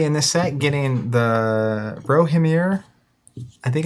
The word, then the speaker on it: Rohirrim: Notably in this set, getting the Rohirrim, I think it's how you say it, the Rohan characters for the first time. It's a whole new faction. Rohirrim, that's it.